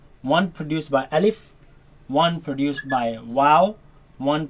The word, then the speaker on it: ألف: Alif, ألف Alif, ألف Alif. ألف. Now this letter you are to pronounce it fast. Do not say Alif and do not say Alif.